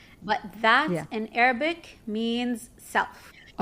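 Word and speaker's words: ذات: But that in Arabic means self. Okay. And you just pronounce it that.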